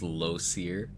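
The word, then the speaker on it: Lae'zel: quite some time something more than the it's pronounced Loser yeah loser from aen to Gail where does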